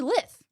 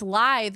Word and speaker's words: lithe: They said, apparently it's lithe sounds like lies with a lisp, when I have always pronounced it lith rhymes with myth.